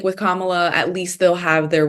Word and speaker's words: Kamala: think it is no it is Kamala yeah comma like comma La um so what do